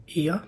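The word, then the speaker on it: Oia: We went to Oya for sunset. I think some people pronounce it like IA, but we went to I'm going to say Oya.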